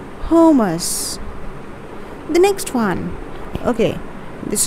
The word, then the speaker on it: hummus: spread or a dip that is known as hummus hummus the next one okay this is a very